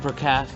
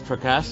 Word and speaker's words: Prakash: sounds like they had a hard time pronouncing my name is like per cat my name is Prakash this means like in